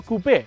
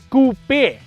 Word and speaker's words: coupe: SUV with a four Coupe Oh and about Coupe let's get this very clear straight off the bat right it is coupe not Coupe like the Americans say koops are to put chickens